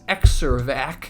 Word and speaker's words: Xervac: So this machine is called the Xervac. Xervac. It's almost spelled like Xerox, but it's not pronounced like Xervac. It's Xervac.